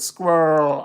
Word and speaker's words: squirrel: Squirrel, Eichhörnchen, squirrel. You got to roll the R from the squirrel sound.